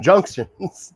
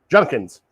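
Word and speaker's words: Judkins: Yeah, I like that Quinshon Junkins. Like, you don't even know the dude's name. That D is silent, Brian.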